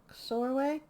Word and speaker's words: Soreway: Soreway rhymes with doorway books. Soreway.